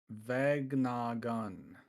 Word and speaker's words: Vegnagun: How do you pronounce that new dark forward we have? Vegnagun? Vegnagun.